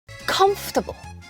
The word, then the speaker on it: comfortable: 챙겨서 발음 챙겨 주세요 comfortable comfortable 편안한이란 뜻이죠 죠 터이 아니라 블 컴입니다 오어 발음하지 않고 comfortable comfortable이라고 해야 돼요 that that D BT